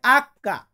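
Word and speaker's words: acca: এইস, এইসে হয় আক্কা।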